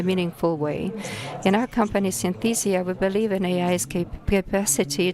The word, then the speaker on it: Synthesia: again applaud to this because Synthesia is the correct way to pronounce the name of this company Synthesia so being jokes and